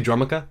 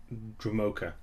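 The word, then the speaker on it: Dromoka: let's just take this how do you pronounce that Dr do you say dramaa I say druma druma I think so too drok Dr I've heard dramaa like no that's dumb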